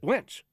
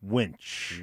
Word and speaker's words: winch: I just wench. Am I saying it wrong or right? Winch. Winch. Winch. Not wench.